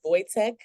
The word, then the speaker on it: Wojtek: And am I pronouncing it correctly? Is it Voytech?